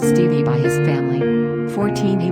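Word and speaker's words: Stephe: he was called stuff he pronounced stevie by his family 14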